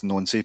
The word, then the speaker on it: Nancy: Celtics seem to believe it's Nancy. A lot of people including uh um those uh the the linguist among us seem to say it's nonsafe, but we we'll go with Wilfrid Nancy.